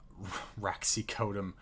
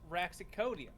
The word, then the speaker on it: Raxicodium: the authority and the Raxicodum. That can't be how it's supposed to be pronounced. It's just a drug. Raxicodium. There's an I there.